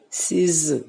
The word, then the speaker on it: season: So the sound is z. So season, season, season, season. Okay. So if I know that these are continuous sounds, I will say it like season, season. It's not season.